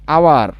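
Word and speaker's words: hour: এখন এই যে হাওয়ার বলতেছি, হাওয়ার, এটা তো হাওয়ার না, এটা তো কিন্তু হাওয়ার না, হাও আর, এটা কিন্তু না, এটা হচ্ছে আওয়ার, ও ইউ আও আর।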